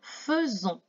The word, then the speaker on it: faisons: On écrit nous faisons, mais on prononce nous faisons.